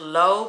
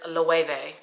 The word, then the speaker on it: Loewe: I know a lot of people think it's like pronounced low, but it's Loewe.